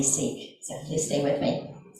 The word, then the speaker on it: Sikhism: of the Sikh religion Sikhism I've been told that you pronounce that sick so whether it's secret sick um somehow it flows that or if I say Seek so please stay with